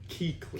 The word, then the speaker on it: Kuechly: Bobby Wagner, Luke Kuechly, Keekly.